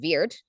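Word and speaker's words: wyrd: of the word word comes from w y Rd pronounced Weir and it became word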